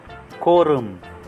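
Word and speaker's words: 구름: Ito po yung guhit sa ilalim, yung guhit sa ilalim ng R. E. E. E. E. Tapos po yung M. Kaya ang basa po nito ay ku, ku, rum, ku, rum, ku, rum, ku, rum.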